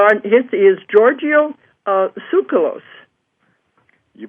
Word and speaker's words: Tsoukalos: his is giorgio uh sucralose you pronounce it very well that's perfect absolutely i just said leave the tea off and i guess we're